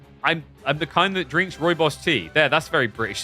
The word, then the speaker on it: rooibos: Rooibos? Why is that's how you pronounce it? It's rooibos. It's not rooibos. Rooibos. You want Roy? You need more roll on the R?